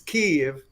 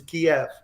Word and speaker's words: Kyiv: Actually, it's in Ukrainian, it's Kyiv, and in Russian, if the translation from Russian is Kiev.